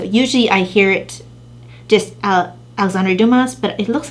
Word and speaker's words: Alexandre Dumas: And that book is it pronounced Alejandro Dumas, The Count of Monte Cristo.